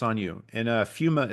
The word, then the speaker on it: Pneuma: on you and uh fuma is spelled p hu M A so um I was always like fuma f fum no no do not do that folks do not do